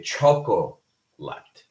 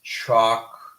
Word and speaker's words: chocolate: So, for example, in the case of chocolate, we do not say chocolate, right? We do not say that. We do not pronounce the second O. We basically just pronounce chocolate, chocolate, right?